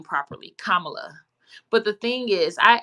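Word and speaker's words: Kamala: an extra effort to say her name properly kamla but the thing is I actually canel my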